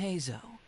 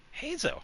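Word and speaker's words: Heizou: Hazo. Well, actually, we can also confirm it here, too. Yeah, cuz we do have his voice. Yeah. The name Shikoin Hazo, sharpest and most successful. Hazo.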